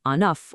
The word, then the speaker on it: un œuf: When it's singular, like enough or us, you say that final consonant. When it's plural, that consonant goes silent.